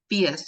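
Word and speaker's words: PHIUS: FIAS consultant, which is, or FIAS as it's pronounced, Passive House Institute United States.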